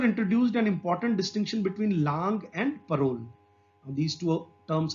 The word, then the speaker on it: langue: And langue, what is langue? We have to pronounce it langue, not lang.